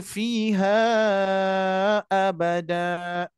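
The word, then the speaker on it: فِيهَا أَبَدًا: Dibacanya jadi fiha abada. Kok dibaca panjang? Karena pertemuan mad dua harakat bertemu dengan hamzah atau alif berharokat.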